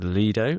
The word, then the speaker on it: Lido: We went to something called the Lido, which I've learned is now pronounced Leido, which is this very